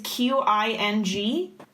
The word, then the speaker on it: Qing: I also want to say, by the way, just as a qualifier, everything here is not pronounced how it's spelled. So the Qing dynasty is Qing.